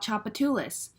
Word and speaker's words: Tchoupitoulas: Josephine Josephine three syllables what about Tchoupitoulas Street like in New Orleans Chah Bay two lists Tchoupitoulas four syllables now sometimes when you're